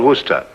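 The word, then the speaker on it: Worcester: But it's spelled W O R I C E S T E R. Where sister? Oh, yes, I see. Yes, Lord Worster.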